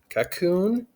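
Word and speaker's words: Kakoune: i just type sudo apt install and then cocoon which is spelled cac get this a little bit bigger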